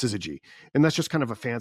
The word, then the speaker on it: syzygy: I believe this is how it's pronounced, syzygy.